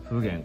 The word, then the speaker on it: 普賢: ねお名前が不言これあまねく賢いものと書いて不便と読みます全てにおいて